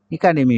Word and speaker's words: একাডেমি: কারণ আমরা জানি ইংরেজিতে আ এ শব্দ, এ বর্ণটির উচ্চারণ কখনো এ হয় না, হয় এ হয় বা আ হয়। হয় অ্যাপেল হবে বা আপেল হবে।